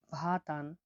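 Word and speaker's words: vatan: পরবর্তী অক্ষরটি হলো ভি, ভি এর উচ্চারণ হয়ে থাকে ভ হিসাবে। উদাহরণটা হচ্ছে ভাতান, ভাতান, ভাতান মানে হলো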